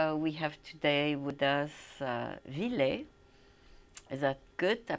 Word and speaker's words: Ville: We have today with us Ville. Is that good? I pronounce it well? Yeah, that's a pretty good one. You do pronounce the E. Yeah, it's like the name is a Finnish name, so yeah.